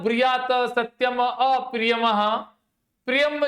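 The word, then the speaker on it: ऽप्रियम्: अप्रियम। यहाँ पे a silent है, छुपा हुआ है।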